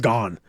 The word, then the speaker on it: Gon: Like, "No, he says gone." So, every time we said it incorrectly, no, lower accurate. It's gone.